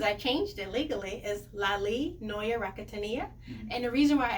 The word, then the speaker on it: Laly Noya Rakotoniaina: Yes, my new name, because I changed it legally, is Laly Noya Rakotoniaina.